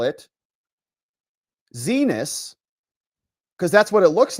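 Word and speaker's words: Xinis: But Judge Zenus, we like to say Zenus because she's one of those people who I can guarantee you rages when you mispronounce it. Maybe Andy does too and I should be more respectful of that. but rages because when her court clerks say C knees C knees like you know I'm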